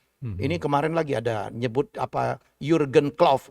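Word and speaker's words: Jürgen: Ini kemarin lagi ada nyebut Jurgen Klopp. Udah jelas orang Jerman gitu dibacanya Hurgen gitu.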